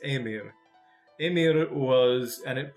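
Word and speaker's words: Ymir: of yamir well and it's not said Jameer that's my mispronunciations it's a mere Amira was and it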